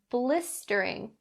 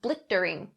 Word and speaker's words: blistering: go over the word blistering be careful and make sure that that st sound is very clear blistering blistering don't say blittering okay be careful blistering